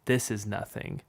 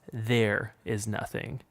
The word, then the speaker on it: There Is Nothing: time than that so i mispronounced their album last time I keep calling it this is nothing but it's there is nothing i bought my copy